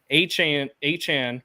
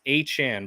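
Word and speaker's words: Achane: Achan, which it's Achan, by the way. That is how he wants it pronounced, is Achan. It's not Achan.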